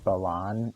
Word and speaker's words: Balan: By the way, I'm pretty sure he's supposed to be pronounced Balan, and then his brother is Balin.